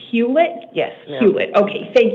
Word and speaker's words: Huet: you very much and tell me again it's pronounced huet yes ma' huet okay thank you miss huet